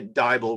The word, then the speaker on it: Diable: And that is how we got to meet Tanya Diable, rhymes with Bible.